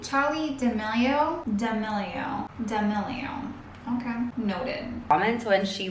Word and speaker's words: D'Amelio: In fact, she actually gets a lot of How does she pronounce her name? Charli D'amelio.